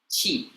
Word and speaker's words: qi: Okay, in humans, okay, is called chi. Okay, whether you spell it qi or ch i ch.